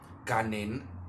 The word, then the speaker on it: Ganen: His incantation is Rian Ganen, that is spelled G-A-N-E-N, Ganen, Aya de Agares.